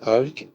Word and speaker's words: Hulk: magicien ou l'incroyable Hulk alors on dit en français Ulk mais dans la plupart des pays ça se prononce je précise par que